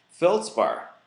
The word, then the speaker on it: feldspar: used in that too feldspar listen very carefully rhymes with pink feldspar pink often is